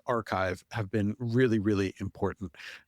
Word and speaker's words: arXiv: So archive it's a arxiv which is impossible to but it's pronounced archive.